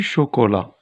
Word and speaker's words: chocolat: Du chocolat, alors ici, T.